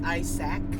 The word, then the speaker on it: Isaac: Spelled with one A. Technically, it's Isaac.